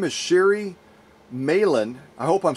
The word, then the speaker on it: Meilahn: Her name is Shary Meilahn. I hope I'm saying her last name correctly. I didn't ask her how to pronounce it. It's M-E-I-L-A-H-N. L-A-H-N. Yep. Meilahn.